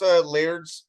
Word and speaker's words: Laird: What's Laird's first name? Peter. And I think I was saying his name wrong. It's Laird, I think I was saying Leard.